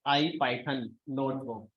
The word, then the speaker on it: ipynb: इसको प्रोनाउंस करते हैं आई पाइथन नोटबुक, तो इसको हम प्रोनाउंस करते हैं आई पाइथन नोटबुक, आई पाइथन नोटबुक।